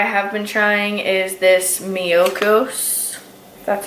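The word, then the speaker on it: Miyoko's: Another butter that I have been trying is this Miyokos, that's how you say it.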